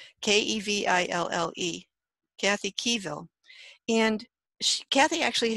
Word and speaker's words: Keville: No, it's Keville is how you say her name. K-E-V-I-L-L-E.